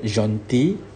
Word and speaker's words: gentil: Jean T Jean D you don't pronounce the L here gentil and what happened feminine